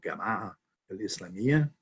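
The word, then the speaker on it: al-Gama'a al-Islamiyya: then is organized under what's called the gamma el islamia it's on your list is the egyptian pronunciation of jamaa which means organization and that is all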